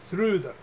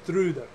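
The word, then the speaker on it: Þrúðr: I pronounce this right, Thrudr. In English, the name Trudy. It's the English is Trudy, but I believe in Old Norse it was Thrudr.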